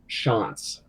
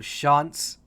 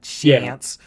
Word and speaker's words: Schantz: you do this but my last name is pronounced Schantz yeah yeah so shots not chance I'm gonna say [